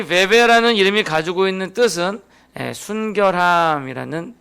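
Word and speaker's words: 뵈뵈: 베베. 원래 좀 정확한 발음을 하면 포이베인데 한국 성경에서는 이걸 베베라고 이렇게 이름을 명칭을 했더라고요.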